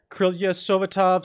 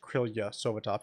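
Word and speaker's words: Krylia Sovetov: spell it here, but it does look like it's pronounced Krylia Sovitov.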